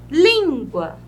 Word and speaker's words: língua: Língua. Língua. A última sílaba, a penúltima sílaba é a sílaba tônica.